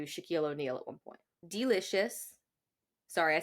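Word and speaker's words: Deelishis: that really weird because the name is spelled really funny de e right yeah it's d e l i s h i s so it's like delicious she was the winner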